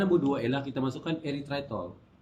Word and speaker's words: eritritol: dua ialah kita masukkan eritritol eritol ada sebut er tritol kalau Jawa er tritol kalau negeri semilanbut lain kan kalau macam ni eritritol ikutlah nak sebut tapi dia punya ejaan dia e er r y t h r i t eritritol eritriton ni apa ialah